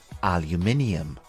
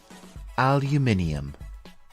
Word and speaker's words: aluminium: is aluminum aluminum and in British English it is called aluminium repeat after me aluminium it is interesting to